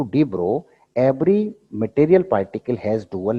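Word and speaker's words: de Broglie: Matter waves का दूसरा नाम था, इसको बोला गया डी ब्रो waves. डी ब्रोगली बोलते हैं ना, ब्रोगली बोले, लेकिन एल इसमें साइलेंट रहता है तो इसको बोलते हैं डी ब्रो वेव्स।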